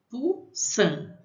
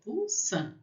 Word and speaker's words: poussin: Poussin. E N vai ter som de an. Então, poussin.